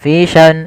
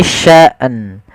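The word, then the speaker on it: شَأْنٍ: pelafal asyima fi sya di sini kesalahan yang terjadi adalah menyeret hamzah fi sya fiisan fisan gitu atau fisan harusnya dia matikan hamzah baru matikan nun hua fi sya sya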